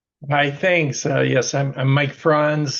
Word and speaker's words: Franz: Yes, I'm Mike Franz. The pronunciation is like Hans and Franz from the old Saturday Night Live skits, in case you might forget.